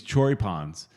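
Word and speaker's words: choripán: All three supporters clubs came together, and Southern Legion always cooks these choripans.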